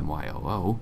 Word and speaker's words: mu: be properly vetted the Greek symbol mu pronounced my oo mu is used to indicate